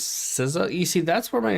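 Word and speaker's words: SZA: She pronounced her name as Siza.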